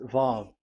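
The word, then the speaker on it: ו: VAV. So it's V as in Vogue. So it's really V. How to read Vogue? So the word, the shape Vav is really pronounced V, like Vogue.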